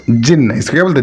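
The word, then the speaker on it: jinn: जिन, pronounced जिन, इसको क्या बोलते हैं?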